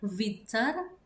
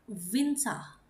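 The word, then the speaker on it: Winter: Ada orang-orang Jerman yang mengganti menjadi A karena mereka itu seperti nyangkut di tenggorokan ER-nya atau seperti ditelan. Nah, bisa diganti menjadi A atau misalkan teman-teman mau er-nya dibaca itu tidak masalah. Jadi bisa Vinter bisa juga vintai, sebisa mungkin aku menggantinya menjadi a Vinsa.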